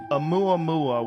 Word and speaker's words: Oumuamua: Oh, You came on my radar when you were discussing Oumuamua. Is that Yes, what I said? that's the right. Oumuamua, which is an object that we detected in